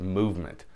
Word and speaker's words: MVMT: is MV MT and they want you to pronounce it movement yes they want you to pronounce the watch